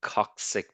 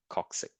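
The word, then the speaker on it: coccyx: tailbone is called a coxic bone if you have trouble pronouncing some of these words with the Y just change it to an i and sound it out okay coxic coxic uh the backbone this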